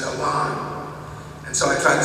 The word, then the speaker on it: Alan: a while back from Arthur's biography that it's pronounced Alan and so I try to say that every chance I again so the Machester Alan Arthur arrived in Washington to assume the presidency